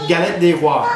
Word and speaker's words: Galette des Rois: Okay, so with the Galette des Rois, This is something that the Did you guys catch did. That? It's the fondue. Did I say it right? What is it? Exactly. Galette des Rois.